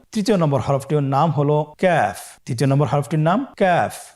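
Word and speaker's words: ك: কাফের মাখরাজ হলো জিহ্বার গোড়া থেকে একটু আগে বাড়িয়ে তার বরাবর উপরে তালের সঙ্গে লাগিয়ে উচ্চারিত হয়। তাহলে আমরা কফ যেখান থেকে উচ্চারণ করেছি একটু আগে বাড়িয়ে সেখান থেকে আমরা তার বরাবর উপরে তালের সঙ্গে লাগিয়ে হরফটি উচ্চারণ করব।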